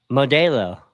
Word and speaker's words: Modelo: The E is an A, the E is pronounced like an A in Spanish.